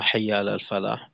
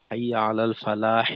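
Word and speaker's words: حي على الفلاح: এই দুইটার ক্ষেত্রে দেখা যায় যে অনেকে অক না করে হরকত দিয়ে বলে। যেমন হাই আলা সালাত হাই আলা সলা হাই আলাল ফালা হাই আলাল ফালাহ এটা হরকত দিয়ে উচ্চারণ করে।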